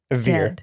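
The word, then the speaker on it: Vir: Veer, not Lanier. Oh, sorry, Veer. I was like, when did you confront Lanier? It's the ear sound at the end.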